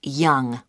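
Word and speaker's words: Yonge: That's spelled Y-O-N-G-E. That's Young.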